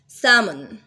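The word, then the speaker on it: salmon: सैमन, L pronounce नहीं होगा।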